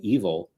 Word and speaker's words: Evel: talk about Evil Knievel, they still all pronounce his name evil, but the spelling of it is completely kind of wacky.